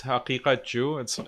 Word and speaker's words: Haqiqatjou: It's Haqiqatjou. It's very hard to pronounce because of the qaf letter. It's like a kind of a guttural. Yeah, guttural. So Haqiqatjou. So if you pronounce it Persian, it's like Haqiqat, and Haqiqatjou. So that might be easier.